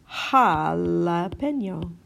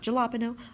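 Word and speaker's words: jalapeño: A great example that is often mispronounced of this sound is in jalapeno. Right? Jalapeno. Jalapeno. Not jalapeno. Jalapeno. Jalapeno.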